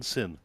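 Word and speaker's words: Syn: the evening it is sin is that how I pronounce it yep s y n sin okay so I have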